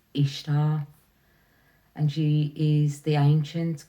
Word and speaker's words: Ishtar: she said she was this is the cor pronunciation was ishar and she is the